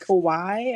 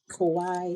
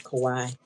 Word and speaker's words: Kauai: I think it's pronounced Kawaii or something like that, Hawaii. or something like Yeah, that. Kauai. Yeah, looks like Hawaii with a K, but I think it's Kauai.